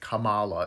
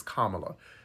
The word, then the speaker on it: Kamala: is absolutely unacceptable secondly Kamala Kamala cuz you pronounced it Kamala in your video is Kamala she is a black